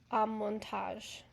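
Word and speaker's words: Amortage: So online it's pronounced Amontage.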